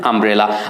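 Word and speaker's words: umbrella: হি হ্যাজ অ্যান আমব্রেলা। আমব্রেলার প্রথম অক্ষর ইউ আছে, বাট ইউটা ভাওয়ালের মতো এখানে উচ্চারণ হয়েছে, অর্থাৎ ইউটা ইউ এর মতো উচ্চারণ না হয়ে আয়ের মতো উচ্চারণ হয়েছে।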